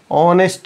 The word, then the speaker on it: honest: in the same way honest also honest also H is silent so so an honest